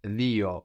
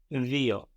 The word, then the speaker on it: δύο: But this is pronounced dio in Greek. Δύο.